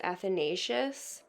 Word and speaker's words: Athanasius: while i was editing i actually realized it's pronounced athanasius so maybe kirscher wrote